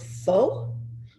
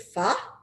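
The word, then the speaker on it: phở: that i adore it looks like the word fo but they pronounce it pha and they even have pha for breakfast so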